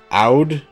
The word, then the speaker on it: oud: Yeah, it's O-U-D is how it's spelled. There we go. That's how you do it. There's a letter at the front that most people can't pronounce. So oud is close enough.